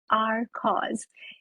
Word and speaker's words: R Coz: It's your host Poonam here with a very special guest, Rupali Rajvanshi, the founder of the nonprofit named Our Cause. And it is spelled as letter R, COZ.